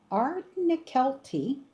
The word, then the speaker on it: Ardnakelty: I Ardnakelty, I think is how it's pronounced.